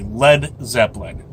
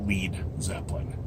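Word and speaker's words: Led Zeppelin: go down like a lead Zeppelin other places say he said let balloon Jimmy liked the phrase and misspelled led so that and I quote those stupid Americans won't pronounce it lead Zeppelin happy birthday Jimmy great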